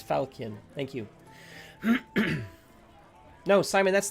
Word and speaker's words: falchion: oh did i put 14 in there i think i might have put 14 in there oh 13 okay hard c okay so it is falchion thank you no simon